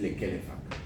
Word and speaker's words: Lekelefac: Y el apellido es Lekelefac.